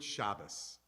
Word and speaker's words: Shabbos: We say Shabbat Shalom, and we say Gut Shabbos. Now the Gut is clearly German or Yiddish, but Shabbos, that's how they would see it in Hebrew. That's not a Yiddish pronunciation, it's the Hebrew pronunciation.